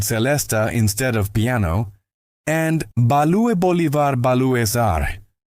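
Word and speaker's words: Ba-lue Bolivar Ba-lues-Are: Panonica, a tender ballad where Monk played celesta instead of piano, and Balue Bolivar Balue Sar. Monk's exaggerated pronunciation of Blue Bolivar Blues, named after the Bolivar Hotel where Nika had taken residence after being kicked out of the Stanhope.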